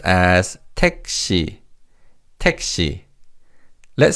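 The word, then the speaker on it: 택시: In Korean, this is pronounced as tei. Texi. Let's say that together. Repeat after me. Texi.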